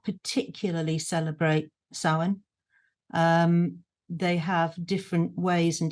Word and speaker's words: Samhain: So it is the season of Samhain, as you pronounce it, Samhain as it's written, Samhain as you, I keep being pulled up on this, is the way you should correctly pronounce it.